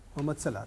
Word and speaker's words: Mohammad Salah: Is it the right pronunciation? Yes. Mohammad Salah.